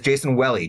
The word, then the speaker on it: Jason Welle: And it's Jason Welle, just for the record. Rhymes with belly. Jason Welle, thank you for the correction.